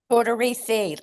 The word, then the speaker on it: Tortorici: Tortorici? Tortorici, kind of like a Reese cup.